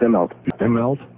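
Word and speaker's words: Immelt: into those shoes, try to How do you pronounce the guy's name, Ron? Which one? Himmel or what? Himlt. Yeah, just Eml.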